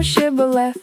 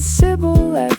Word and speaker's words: Shibboleth: If he said, "No," then said they to him, "Say now Shibboleth." And he said Sibboleth, for he could not frame to pronounce it right.